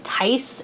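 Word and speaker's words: Tyce: it basically follows um I believe that you pronounce his name Tice it's t-y-c-e he's a 14 year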